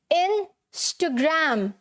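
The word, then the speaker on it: Instagram: आती है, ठीक है, ये जो एच की साउंड आएगी यहाँ पर, जो कि हमारे स्पेलिंग में नहीं होती, ठीक है, जो हमारी स्पेलिंग में नहीं होती, तो क्या है, कैसे बोलेंगे इसे, इंस्टाग्राम नहीं बोलना, इंस्टा, ह की साउंड आएगी तभी यहाँ पर एच लगा हुआ है, ठीक है, क्या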